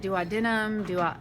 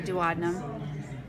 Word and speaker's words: duodenum: Now, if you guys want to pronounce that different than I'm doing it, that's fine. I've heard it duodenum, I just say duodenum.